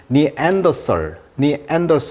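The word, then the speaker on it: Neanderthal: 우리가 네안데르 타이라고 하잖아요 이걸 영어로 발음하면 니더 엔더 이렇게 표현하는데 그러니까 네안데르 사람들의 반응이란게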